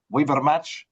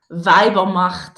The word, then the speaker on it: Weibermacht: Did I get that anywhere close? And you don't want to try first? I did, but I didn't say it right. We Better Match? Weibermacht. Weiber, of course. You're dropping Weiber Match April 19th. So that's a nice set. And can you say the Weibermacht. Weibermacht, exactly. It means something like the